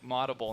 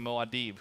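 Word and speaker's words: Muad'Dib: Just like Maudable instead of Moadib, who's probably watching.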